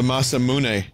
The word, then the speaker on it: Masamune: a little shorter in this game the masamune i figured out how to say it guys